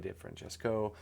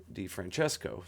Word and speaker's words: DeFrancesco: Pat Martino, and Joey DeFrancesco. DeFrancesco, sorry. Wrong emphasis on the wrong syllable.